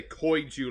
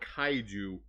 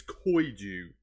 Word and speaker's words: Koiju: And I say Koiju like that because that's how you pronounce it. It's not Kaiju. It's Koiju.